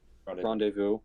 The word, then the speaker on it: rendezvous: I'm going to try to pronounce this right. Uh Rendezvous? Ren- Rendez- R E N Wait, say that again. Rendezvous.